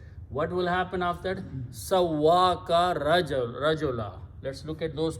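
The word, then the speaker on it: سَوَّىٰكَ: So when you pronounce these together, it becomes Sawwaka. Okay? The sound of this ya with a fatah changes into the sound of alif. So it will become Sawwaka, which is written as in the Quran. Sawwaka, he made you, he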